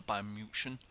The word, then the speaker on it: Bayern München: I'm playing as Bayern Munich, or Bayern München, as they're actually pronounced.